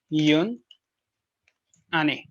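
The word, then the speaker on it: une année: So it is yun ane. Yun ane. All right, the pronunciation yun ane.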